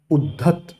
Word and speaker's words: उद्धत: ठीक है ना, उद्धत और उद्यत, उच्चारण में ध्यान देना, एक में द में ध मिला हुआ है और एक द में य मिला हुआ है, उद्यत।